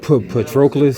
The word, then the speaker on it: Patroclus: How do you pronounce that? I'm an English major, I should know that. Patroclus, sounds like.